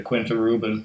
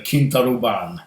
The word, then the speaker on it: Quinta Ruban: but this glenmorangie is the I I wouldn't pronounced in english like like somebody would say to quinta Reuben no it's the King thought oh bond which is basically aged or shall I say